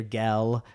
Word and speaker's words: gel: not to be troublesome my dear gel right g-e-l the way he pronounces it kind of all fancy and important right he's he asked